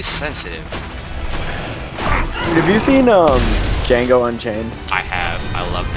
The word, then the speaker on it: Django: have you seen um Django Unchained I have I loved it you know what I loved about that the D is silent no uh you take